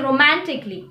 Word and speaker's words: romantically: say romantically we say romantically other examples are logically magically musically diagonally so remember the rule for the letter a is never pronounce the a when it comes before double l y moving on to the